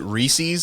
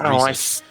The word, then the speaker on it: Reese's: Valentine's Day comic book couples if you had pronounced it Reese's I would not have given you any candy for the rest of your life so thank you for pronouncing it Reese yes I saw your little rant about Reese's